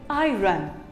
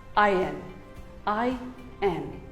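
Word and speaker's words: iron: we use every day most of it call it i run well it is wrong it is actually pronounced as i n i n you can even say it as i earn i earn who doesn't like to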